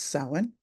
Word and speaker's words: Samhain: It's spelled Samhain, but this is an Irish word, and so it's pronounced Samhain, and it is the celebration of the dead.